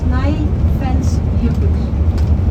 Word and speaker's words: Snæfellsjökull: And the name of this glacier is Snæfellsjökull. Do you think you can pronounce it?